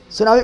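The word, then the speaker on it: tsunami: सुनामी कौन सही है? टी सुनामी। टी सुनामी। तो टी है साइलेंट।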